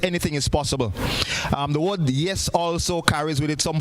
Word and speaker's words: YEES: YEES, pronounced yes, and it stands for Youth Empowerment Evangelistic Series.